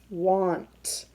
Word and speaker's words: want: saying what all you want so what sound is that a making because it's not making the a sound want what off mmm it's making the Oh sound a short o sound again another reason we